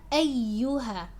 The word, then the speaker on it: أيها: Now the ya has a shadda, just like the shadda found in Surah al-Fatiha in the word إياك. It's the same shadda here, so make sure you're emphasizing and pronouncing it correctly.